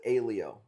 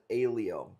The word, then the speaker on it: Aiello: Aiello, Italian. We pronounce it Ailio.